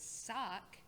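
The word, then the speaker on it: Wukz: of navigate that uh the character i'm playing today is sock but that is spelled w-u-k-z and um i uh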